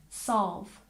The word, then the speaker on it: solve: say it with me solve solve the l sound isn't exactly invisible in this sound but we do tend to soften it solve once again solve good